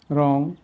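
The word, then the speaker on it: wrong: ডব এর পরে আর থাকলে সেসব শব্দের ক্ষেত্রে ডবলি উচ্চারিত হয় না যেমন রং রিস্ট রাইট রেজ র্যাপ রি রেস্ট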